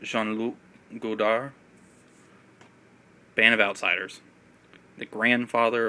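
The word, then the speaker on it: Jean-Luc Godard: you say it and different people say his name different ways gene luke goddard i usually call him sean lu goldar band of outsiders the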